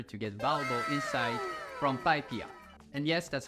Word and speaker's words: PyPI: dashboard in order to get valuable insight from PyPIA. And yes, that's how it is pronounced.